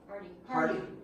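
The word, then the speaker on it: Harte: Dwayne Hart. Was his name? What? Hardy. Yeah, H-A-R-T-E is that's how you pronounce his name.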